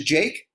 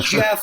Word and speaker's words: Jake: amount of people that get my name wrong which is jake is unbelievable i get people calling me jack i get people calling me jeff and it's like come